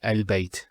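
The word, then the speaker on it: ال: the of definitess that the is always pronounced with a fat not a and not a so it's always a al bait al and so on. It's never it's never ill.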